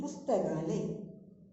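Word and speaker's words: पुस्तकालय: Library meaning pustakale.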